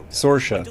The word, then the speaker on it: Saorsa: How do I say her name? Sorsha? Sorsha, that's it.